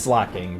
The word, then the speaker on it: Slaking: Slash spinda and double kick slaking, which is pronounced slacking, but you know, I like saying things my own way because um I'm quirky like that or something, you know?